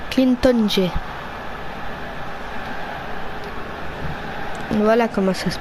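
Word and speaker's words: N'Jie: Clinton J. Voilà comment ça se prononce.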